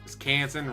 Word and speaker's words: Canton: to three of them canson Canton rhyming with mansion Minnesota go Vikings I